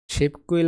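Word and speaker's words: 십구일: একটা বাসিমের রুলস আছে বাসিমের সাথে যদি পদনি থাকে এবং তারপর যদি গিয়ক থাকে তাহলে গিয়কের উচ্চারণ ক হবে হবে এখানে দেখেন বাস্য প ধ্বনি আছে বিয়োগ এবং তারপরে গিয়ক আছে তাহলে গিয়কের উচ্চারণ কি হবে ক হবে হবে তাহলে কি দাঁড়ায় শিব কুইল শিবক কুইল মানে 19 তারিখ ওকে তাহলে 20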